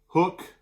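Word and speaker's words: Huk: Hook makes it. Should be pronounced huck, but they pronounce it hook, like a fishing hook.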